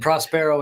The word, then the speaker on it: Prospero: i don't know and prospero is spelled yeah it's uh it's like prosperous or pros prosper with an o at the end p-r-o-s-p-e-r-o okay all right